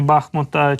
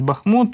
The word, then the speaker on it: Бахмут: бахмута чи бахмута Перепрошую ви завжди мене виправляєте що в місцеві кажуть Бахмут і наголос Саме так треба ставити Буду намагатися запам'ятати це постійно постійно не там ставлю наголос не так наголошую Бахмут має бути Бахмут так Отож тут далі